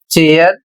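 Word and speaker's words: chair: अगला नियम है जब सी के साथ एच जुड़ जाए जैसे यहां पर मैंने लिखा है सी एच, तो आवाज च होती है। अर्थात आपको सी एच को च का उच्चारण करना है।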